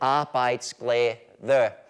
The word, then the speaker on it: arbejdsglæde: And in case you're wondering, this is how you pronounce it, arbejdsglæde.